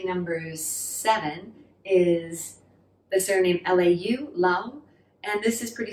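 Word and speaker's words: 劉: which is actually number seven is the surname lau lau and this is pretty similar in cantonese you pronounce it as the low-falling that's the character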